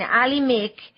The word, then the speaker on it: Alhimik: and he's using the name yes he's saying Ali Mick which rhymes with muik and that's about a pretty good